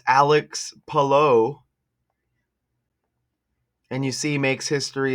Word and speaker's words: Palou: Um, but you would say pa. Like you say pa. That's it. And low. Just saying. Hello. Hello. Perfect. You got it. Okay. It's Alex Palo.